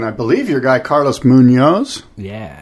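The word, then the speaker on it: Muñoz: guy Carlos Munoz yeah is that how you say his name it is how you say his name and you're not the only one who mispronounces it I heard um one of the commentators the the you know professional broadcasters mispronouncing it as munes which is ajo's last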